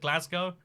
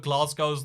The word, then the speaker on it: Glasgow: because everyone who lives in Glasgow cause at Glasgow but glass goes the more like what everyone else says but